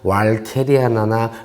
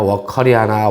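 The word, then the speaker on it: walkeriana: 될 수 있으면 워커라는 사람이 만들었으니까 그냥 그 사람을 해서 이온난농원에는 미국 난협회를 따라서 그냥 워커리아나라고 하는 겁니다. 그리고 보통 왈케리아나라고 하면 그 일본식 발음을 따른 거고, 뭐 라틴어 발음이라고 하긴 했는데 라틴어에는 왈케리라는 발음이 없습니다. 발음이고, 브라질 분들한테 이렇게 물어봐도 워커리아나 이렇게 발음을 해요.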